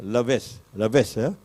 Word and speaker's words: Laves: The French pronunciation is a bit difficult. The last word is usually not pronounced. Laves, Oui, monsieur.